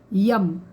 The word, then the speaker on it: यम: ठीक है, और इसको हम उच्चारण करते हैं YAM, यम। तो इसका उच्चारण जो होगा वो होगा यम, लंबा खींचना होता है।